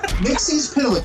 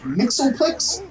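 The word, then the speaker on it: Mxyzptlk: By the way, that is the DC certified proper way to pronounce his name. Mixie's Pitalik. If anybody says Mixoplex, they're wrong. And yes, I know a couple animated shows have said Mixoplex, but the certified way from the guy who created the character is Mixie's Pitalik, which they also used in Smallville as the proper pronunciation.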